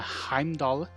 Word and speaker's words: Heimdall: are pronounced as th's um not all um like uh in uh heimdall there's a as a d um that's an actual d um and not pronounced as a th and we'll go over